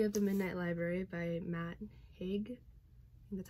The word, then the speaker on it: Matt Haig: first up we have the midnight library by matt haig and that's how you pronounce this name i'm terrible with pronouncing names